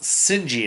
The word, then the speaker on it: Shige: I believe it's pronounced Sinji. Is how they pronounce it constantly throughout the anime, but it's spelled Shige.